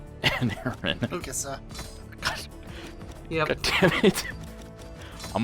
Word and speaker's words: Mikasa: Not so much the personal drama between Misaka and Eren. Mikasa.